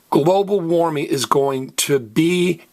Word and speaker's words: global: in Spanish is pronounced global because this is what I call a lizard word remember if a word in Spanish ends an L Z R or D the very last vowel gets stressed so it's global if